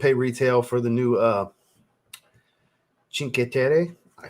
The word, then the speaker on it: Cinque Terre: didn't want to pay retail for the new Cinque Terre. I said it right. Cinque Terre from Mancera.